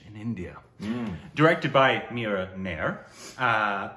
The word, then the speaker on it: Mira Nair: Directed by Mira Nair. Right, that's how you pronounce it.